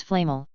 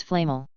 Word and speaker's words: Flamel: Ryan rubbed the pinched area, Nicholas Flamel, also called Nicholas Flamel. This is the difference between English and French pronunciation.